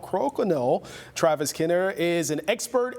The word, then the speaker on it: Crokinole: People pronounce it different, but hey, it's Crokinole.